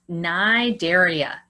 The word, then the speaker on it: Cnidaria: So starting with the first one in green, that is Cnidaria. That's my favorite one. It doesn't even sound like it's spelled. You don't say the C.